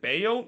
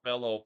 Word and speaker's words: Bello: heads it right to they pronounce it Bayo, even though I keep seeing this, and I wonder, is that the Spanish pronunciation of Bello? Because I know the English pronunciation is Bello, but I guess the commentator basically pronounced it Bayo, so I'm gonna trust